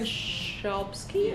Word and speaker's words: Chbosky: By That is- Stephen Chbosky.